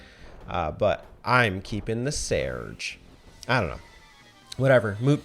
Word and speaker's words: Serge: the main character sarge no it's not sarge i thought it was sarge it's spelled s-e-r-g-e but apparently it's something closer to serge the japanese hiragana reading is seriju so i'm going to call him serge it's not serge it's